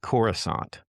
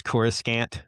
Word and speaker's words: Coruscant: And the planet's called Coruscant. That's the pronunciation, like croissant. And the the narrator goes Coruscant, and the second I heard that, I threw it out the window.